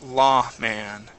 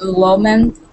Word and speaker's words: Lawman: And let's go to Lawman. So Jones, instead of low, it's law.